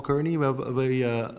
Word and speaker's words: Cairney: Paul Cairney, we've already... How am I pronouncing this, Paul?